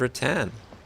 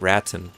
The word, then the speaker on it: rattan: And that's where I first learned the word rattan cuz you could have armor. Rattan helmet, rattan armor, and so on. And I pronounced it raten back then cuz I didn't know any better.